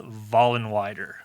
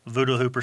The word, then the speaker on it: Vollenweider: I started education, but it's pronounced Vollenweider. So get Vollenweider, Voodoo Hooper sometimes, but Vollenweider is how we pronounce it.